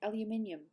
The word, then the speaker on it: aluminium: That's how we say it, aluminium. Listen, aluminium. You guys say aluminum. We say aluminium, which is a tongue twister.